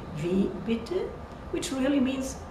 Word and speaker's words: bitte: But in bitte, bitte, E is very short.